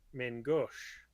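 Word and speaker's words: main-gauche: And being a nerd, I feel the need to point out proper pronunciation. I knew it was gonna happen. Mangosh.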